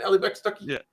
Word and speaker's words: Allie Beth Stuckey: Allie Beth Stuckey?